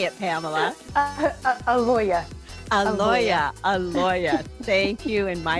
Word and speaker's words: Aloia: Aloia.